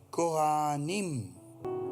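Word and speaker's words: כֹּהֲנִים: En hebreo la palabra para sacerdote es coanim. K o h intermedia a n i m. Coanim. O siempre en el hebreo la h la pronuncian.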